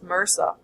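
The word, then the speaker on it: MRSA: to stafl cacus orius M RSA or sometimes pronounced Mera stands from micin resistant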